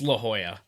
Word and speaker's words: La Jolla: up yeah well and they correct me it's La Jolla laughs all right if it makes you